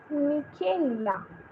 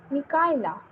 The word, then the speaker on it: Michaela: Michaela. Hello, dear Michaela. How are you? Mikaela. Sorry, I mispronounced your name, dear.